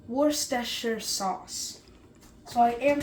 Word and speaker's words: Worcestershire: And just to prove that I am saying it correctly, Worcestershire sauce. Worcestershire sauce.